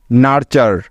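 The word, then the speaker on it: nurture: হলো একটি word pattern যার উচ্চারণ সবসময় চার হয়ে যায় তাইতো সুতরাং এই শব্দটির তাহলে উচ্চারণ হবে এন ইউ আর নার এবং টি ইউ আর ই চার নার্চার নার্চার নার্চার অর্থ হলো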